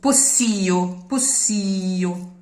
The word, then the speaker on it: possio: Because posso, the full word would have an open accent, but if it loses the final O and it becomes a monosyllable, it stays closed. Possio. You would say posso io, but possio.